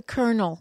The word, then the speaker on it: colonel: yeah uh colon a in English it's a kernel it's a kernel it's spelled the same it's spelled the same but it's but you so it's spelled colon colon but you say colonel yes and so for